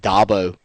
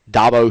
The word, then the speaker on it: Dabo: yeah I heard that Dabo like a dirt dobber Dabo Swinney two guys in